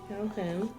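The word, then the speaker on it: Kalhen: He puts his hand out for you to shake, and he's like, I'm Calhen, which is spelled Kal-HEN. Calhen.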